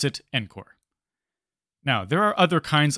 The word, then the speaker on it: ENCOR: Note that you might hear the exam name pronounced as ENCOR also. That seems to be the standard pronunciation. However, because ENCOR stands for Enterprise Core and not Enterprise Core, I prefer to pronounce it ENCOR.